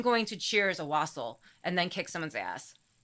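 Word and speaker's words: wassail: know if I'm saying it right wasle it's wasle according to Google pronounce it's wasle the word wasle even popped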